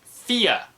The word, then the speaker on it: Fe: I am gonna go with Fia. I believe that's how it's pronounced. I thought it was Faye or I thought it was Fee, but I believe it's pronounced Fia.